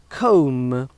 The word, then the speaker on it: comb: Comb, for example, C-O-M-B, is not comb, but comb. And it's not com, it's comb.